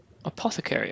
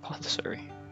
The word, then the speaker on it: apothecary: gone into the light Apothecary oh that's how you pronounce it not athary if you're here to